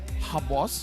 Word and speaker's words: Xbox: We have Aziz, Xbox, Panda, Yuna, as well as Young Lord, where I think it's pronounced as Habos here for Xbox, even though it's spelled like that.